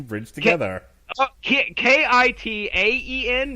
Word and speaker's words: Kitaen: pronunciation bridge together okay ki ta en there it's not Iike tip god dammit right there it is I'm looking how you